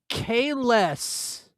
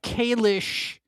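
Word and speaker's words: Kahless: Kalis, not Kalish.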